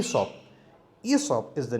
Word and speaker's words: Aesop: pronunciation is is of not esse many people mispronounce it as SF but the real and the correct pronunciation is e so E sub is the name of the person who first